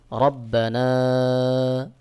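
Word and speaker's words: رَبَّنَا: আলিফের আমজাহ থাকার কারণে এক আলিফের জায়গায় আপনাকে তিন আলিফ টান দিয়ে পড়তে হবে সহি উচ্চারণ হবে রব্বানা আমজা নুন জের ইন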